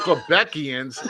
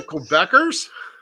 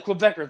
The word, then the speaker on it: Quebecers: the quebecians god damn the quebeckians you mean the quebecers yeah the quebecers my bad i've said it wrong right or wrong i